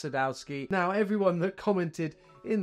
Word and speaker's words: Sadowsky: sky d I know it's pronounced Sadowski now everyone that commented in the comment section